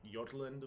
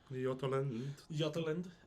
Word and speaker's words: Jutland: up into little kingdoms there was like yordland which was it's spelled jutland yateland um and that was a